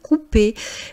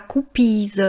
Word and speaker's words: coupées: cheveux coupés, des fraises coupées. Vous voyez qu'on ne prononce pas le E donc on dit pas « coupiz » ce n'est pas